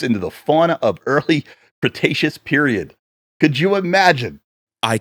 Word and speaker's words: Cretaceous: Cretaceous.